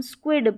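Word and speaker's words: squid: यहाँ पर इस पूरी स्पेलिंग को हम स्क्विड पढ़ देंगे, स्क्विड, क्योंकि आई जो है वो छोटी ई के रूप में पढ़ा गया है ना, बोला गया है, ऐसा साउंड आ रहा है।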